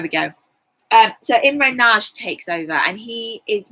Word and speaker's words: Nagy: the Hungarian Uprising I said oh yeah well naggy and they were like the teacher said that's not how you say it's not sauce so there we go so in row Nagy takes over and he is much more popular